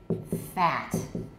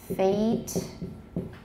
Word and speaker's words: fate: read it like this not fat or fat excuse me start the wrong stroke here or fat no no it should be fate and think of this